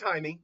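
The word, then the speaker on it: Jaime: it's it's it's pronounced Jamie. It's like no it's not. It is pronounced haimey. The J is pronounced as an H in Hispanic languages.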